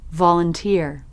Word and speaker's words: volunteer: are in same position but volunteer not volunteer I think I think R sound is like stressed volunteer d like suddenly lower to higher Volunteer.